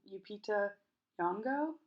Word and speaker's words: Lupita Nyong'o: With I say her name wrong. Lupita Nyong'o.